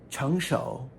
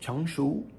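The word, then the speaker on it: 成熟: Chengshou is mature. It's also pronounced Chengshu. I always hear it as Chengshou.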